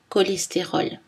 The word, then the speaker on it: cholestérol: Mais attention, dans certains mots, CH se prononce K. Archaïque, archéologie, bac, cholestérol.